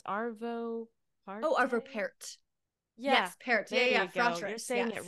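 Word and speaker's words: Arvo Pärt: you say his name it's arvo par oh arvo Parr yes Parr it right oh it was beautiful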